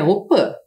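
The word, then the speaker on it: opy: participam sempre da op embora a gente escreva aqui opi que é a casa de reza a pronúncia correta é Opa Principalmente as crianças pois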